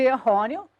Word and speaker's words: errôneo: Errôneo, sílaba tônica de errôneo, é a penúltima, RO.